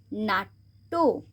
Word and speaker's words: নাট্য: বাক্য, আবার এখানে যেহেতু টয় জফলা আছে তাই টটাকে আমরা দুবার উচ্চারণ করব। নাট্য, আবার এখানে দয় হস্যুর সাথে যেহেতু জফলা আছে তাই দটাকে আমরা দুবার উচ্চারণ করব।